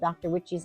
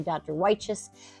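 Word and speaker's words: Dr. Wyche's: She pronounces it Dr. Witches. I say Dr. Weich's, but that's a big beefsteak or slicer tomato.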